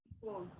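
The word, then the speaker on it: called: Pero si lo pronuncio con una D, mira que no va a ser tan traumático la pronunciación. Cold, cold, es por el mismo movimiento de mi boca, ¿cierto?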